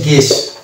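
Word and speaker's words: guess: আমরা ইউ K silent ধরবো, ওই জন্য ওটার উচ্চারণ হয়েছে গেস।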